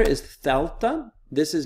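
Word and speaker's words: δέλτα: The next letter is thelta.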